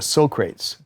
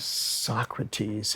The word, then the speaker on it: Socrates: was reading something by Socrates, but he was mispronouncing it. He was calling it Socrates, and nobody really giggled, but Quincy didn't want him to be embarrassed.